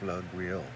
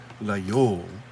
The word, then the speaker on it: Laguiole: That's where they make these knives in the town of Laguiole. Now the locals pronounce it Layole, but the proper French, I suppose, pronunciation is Laguiole.